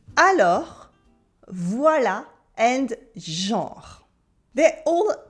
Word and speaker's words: alors: Alors, alors, with the silent S at the end, repeat after me, alors, alors, means then, therefore, or while.